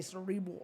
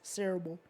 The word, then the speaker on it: cerebral: You can say it either way, because sometimes I say it both ways. I say cerebral or cerebral.